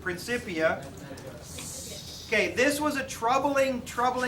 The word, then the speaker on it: Principia: Technically, it's pronounced Principia, but most people pronounce it Principia.